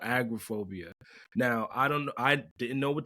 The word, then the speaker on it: agoraphobia: Agoraphobia.